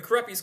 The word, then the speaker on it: Kurupi: Is it the Kurupi's curse or the Corrupties curse? The Krupy's curse.